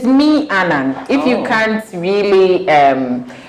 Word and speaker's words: Meannan: wondering meaning foods he tells about the name mianon okay i'm pronouncing it right yeah yeah perfect okay yes so um it is me anand if you can't really